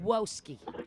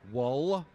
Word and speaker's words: Wolski: Wolski. It's close. W. Spell Whoa. Whoa. it. Spell it. Wolski. Wol. Oh, there's an L in there? W-O-L. Wol. S-K-I. Ski. Wolski.